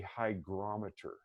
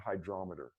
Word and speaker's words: hygrometer: a humidifier and a hygrometer and it's spelled h-y-g as in golf hygrometer not hydrometer hygrometer you can get them